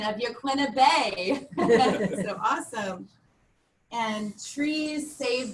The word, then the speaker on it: Yaquina Bay: Svetlana, I was so impressed with your correct pronunciation of Yaquina Bay.